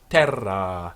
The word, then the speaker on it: terra: K in Terra it in Terra with a long a on Terra see in K in